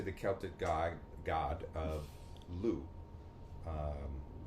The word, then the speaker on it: Lugh: Uh dedicated to the Celtic god god of Lugh. Um The G and the H are silent for some reason.